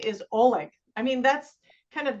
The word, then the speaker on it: Oleg: so now I know and some people say Oleg or is it Ole it's Oleg okay yes I it's a g kind of like that's how you pronounce it yeah well I can just tell